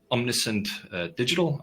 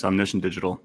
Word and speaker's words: Omniscient Digital: So today we've got Alex from Omniscient Digital. I pronounced that correctly, right? Yes, Omniscient Digital.